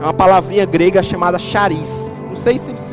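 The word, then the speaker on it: χάρις: É uma palavrinha grega chamada charis. Não sei se pronuncia bem assim não, mas se escreve assim, charis.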